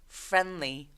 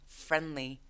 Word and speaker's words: friendly: 얘도 중간에 있는 D가 사라져서 friendly, friendly.